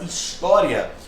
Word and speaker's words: história: A palavra história tem como sílaba tônica o tó, que é uma paroxítona.